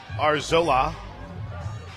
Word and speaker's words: Arzola: runner at first Isabella arzola steps the plate a r- z- l AA that's the pronunciation guys the L AA in all caps BNS pop foul I